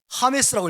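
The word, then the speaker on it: James: 제임스. 어떻게 야곱이 제임스가 돼버리냐? 이게 번역상에 일어난 일이에요. 제임스. 이 제임스를 저기 콜롬비아에서는 뭐라고 읽을까요? 하메스라고 읽어요. 하메스.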